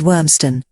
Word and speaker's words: Ormiston: Century ton enclosure settlement the local pronunciation of the place name is wormstone and the modern surname